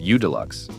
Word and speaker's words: UDLX: The UDLX, pronounced U-Deluxe, was based on Minneapolis-Moline's Model U series, sharing the tractor's four-cylinder overhead valve gasoline engine, displacing 283.7 cubic inches.